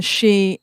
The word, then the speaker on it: Sidhe: Oh, Aois, AOS, and then that's Ace, means people, and then she, it's usually spelled SIDHE, but it's pronounced she.